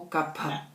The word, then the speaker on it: kapha: A linhaça tem um efeito principalmente sobre kapha, ou kapha, que seria a pronúncia certa.